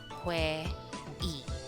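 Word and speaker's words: 회의: If it's not placed in the first syllable of the word, the sound is e. For example, this word is read as hue e.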